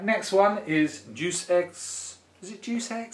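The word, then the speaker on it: Deus Ex: Ju is how you I thought it was jux to start with you know obviously not the best way to pronounce it don't call it juice X that's terrible it's juice X yeah and um yeah Human Revolution there's a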